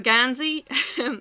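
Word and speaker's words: Geansaí: I have a Gansey.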